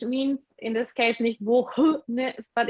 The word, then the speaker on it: wohne: Yeah, age means in this case nicht wohne, but it means like the O is long. Ich wohne in Kanazawa. ich wohne in Kanazawa. Ich wohne Ich in Kanazawa. Ich wohne in Reichenbach.